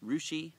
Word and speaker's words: Russia: There's a Rushi Ohio uh spelled like uh Russia.